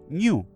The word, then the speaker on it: GNU: New le gusta a Stalman que lo pronunciemos en español.